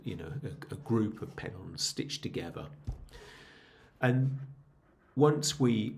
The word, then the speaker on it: pedon: And that is a pedon, rhymes with hedon, if you want to remember how to pronounce it.